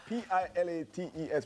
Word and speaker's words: Pilates: Now some people hear the word P I L A T E S which is pronounced Pilates and immediately picture something bendy and intimidating but AB lab fitness is changing.